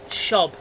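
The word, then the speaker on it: Szob: What Oh no, Shob. I think that's how you pronounce it, because the Polish, they put the SZ as she, so it's Shob.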